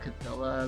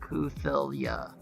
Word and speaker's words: Cthulhu: There's an anime girl version of Cthulhu as well as the game Chaos Code.